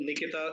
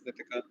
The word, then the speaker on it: Nithika: to the next participant nikita nithika every time i get your name wrong it's the organizers because they have written your name with nikita in my sheet but i know it's nithica we move to the